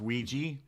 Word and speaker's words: Ouija: Yes, but why is it spelled the way it is if it's pronounced Ouija?